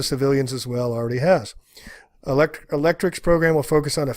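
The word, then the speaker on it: ElectRx: The program, called RX, pronounced Electrics, cute, ultimately aims to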